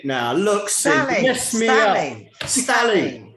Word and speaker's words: Stally: Is it Staley or Stawley? Stally. Stally. Oh, start. You missed that option.